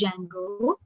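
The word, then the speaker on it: Django: there is a module called as Jango D is silent so Jango module I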